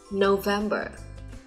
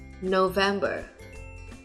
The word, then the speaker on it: November: 4 tháng cuối năm thì đều tuân theo quy luật là có 3 âm tiết và trọng âm nhấn vào âm tiết số 2 nhé.